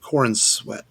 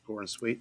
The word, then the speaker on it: Corenswet: And our Superman Clark Kent is going to be David Corenswet. I guess that's how you say it, Corenswet.